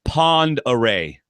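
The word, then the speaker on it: Pend Oreille: the road so apparently it's Pond array what how in the world is o r e i l l e array wow maybe there's some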